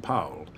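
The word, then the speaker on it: Powell: Paul's younger brother Jonathan who pronounced his name poell and was a fast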